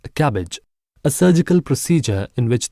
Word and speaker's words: CABG: artery bypass grafting or CABG pronounced as cabbage a surgical procedure in